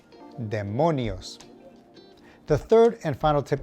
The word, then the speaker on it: demonios: Tip number 2, demons are demonios. Emphasis on the middle syllable, demonios.